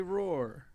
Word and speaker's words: Rohrer: okay I also have with me today Roar and K uh you heard it there first folks that is how you pronounce it in the his native tongue of